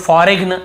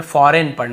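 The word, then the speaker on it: foreign: जी silent है campaign फॉरेन बहुत से लोग फॉरेग्न ऐसे पढ़ते हैं मतलब याद रखने के लिए कई लोग ऐसे फॉरेगन ऐसे बोल देते हैं लेकिन हमें बोलना नहीं है लिखते समय हां आप गलत पढ़ के लिख सकते हो लेकिन आदत ना पड़ जाए कहीं आपकी फॉरेग ऐसे नहीं पढ़ना हमें फॉरेन पढ़ना है यहां पर भी जी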